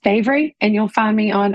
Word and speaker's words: Bavry: Just look up Bavry, and it is pronounced Bavry, and you'll find me on all my socials.